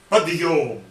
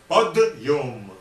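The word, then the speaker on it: подъём: But even in pronunciation, it a little bit sounds as if it is two words connected.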